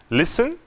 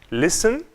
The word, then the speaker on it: listen: Listen, Christmas, castle. Nessas palavras, não pronunciamos a letra T. Listen, Christmas, castle.